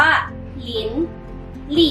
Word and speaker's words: 林立: ข้อ นี้ นะ คะ คำ นี้ ออก เสียง ว่า หลินหลี่ เจอ คำ นี้ เนี่ย